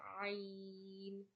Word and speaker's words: ع: The next letter is Ain. Ain. Ain. Ain is pronounced from the middle of your throat.